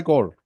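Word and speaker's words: Corps: corporations I think supply core army supply corp You don't pronounce S. It's called Core. S is not pronounced.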